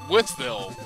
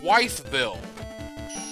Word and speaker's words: Wytheville: town line but everybody that i've ever heard that's never lived there that sees that the first thing they say is wife bill because it's w-y-t-a-g it's white bill i'm like no ma'am that's pronounced with bill unless you're from there